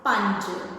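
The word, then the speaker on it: ਪੰਜ: The number 5 is panj, as in Punjab.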